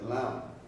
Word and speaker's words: Lam: the bottom there says lamb it's really that's the Buddhist um pronunciation but it's the Hindu pronunciation is l l a n g but the whole idea